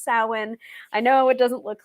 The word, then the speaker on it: Samhain: i was one of them called it um sam han when i started and then it's just like no no it's pronounced samhain i know it doesn't look like how it's